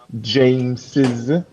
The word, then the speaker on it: James's: there all right but remember that you have to pronounce them Jameses so for example the